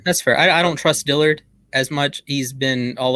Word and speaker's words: Dillard: This Dillard kid, Dillard, how do you pronounce his last name? Dillard.